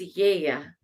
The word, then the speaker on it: Gaia: But no, actually, it's Yeya. So those are the two main things I wanted to share about this statue. One is that we've been saying it wrong all along. It's not Gaia, it's Yeya.